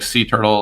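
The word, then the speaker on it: C Turtle: we ended up picking sea turtle which is a pun because it's pronounced like sea turtle like the ones that swim through the sea but it's spelled with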